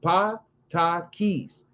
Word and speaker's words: Patakis: It says the sacred stories of the Yoruba, Santeria, Voodoo, etc., are known as Patakis, pronounced pa ta keys.